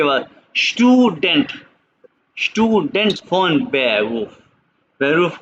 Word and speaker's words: von: ना स्टूडेंटिन को स्टूडेंट, और ना ही फोन, वोन नहीं, नॉट वोन, phone. pronunciation is important in German language।